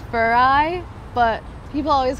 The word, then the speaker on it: Farai: So first question, how the fuck do you pronounce your name? I get that a lot. It's Farai, but people always call me Farai.